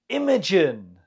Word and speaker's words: Imogen: Imogen. The stress is on the first syllable.